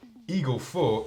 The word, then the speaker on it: Eagle 4: And Paul-Emile François says, funny anecdote, Eagle 4 is pronounced just like Il gueule fort, which means he screams hard in French, as a reference to Adam Ondra.